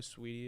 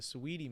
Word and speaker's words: Saweetie: You know who Sweetie is? She was No. dating Quavo. It's like spelled like Saweetie.